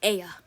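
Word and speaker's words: я: alphabet it's it's put this letter is called Aya so they're called Aya it's supposed to be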